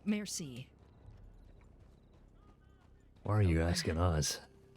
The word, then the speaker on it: merci: How do you say merci? Why are you asking us? How do you say thank you in French? Ain't that it? Merci. Merci. Merci. Like a female horse in the ocean.